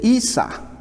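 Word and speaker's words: عيسى: que se le dio en griego, se dice Isa. Isa. O Isa o Isa.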